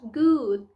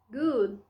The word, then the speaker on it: good: nós já vimos que esse D, o som dele, a pronúncia dele é praticamente mudo, né? Então, portanto, good, good, certo?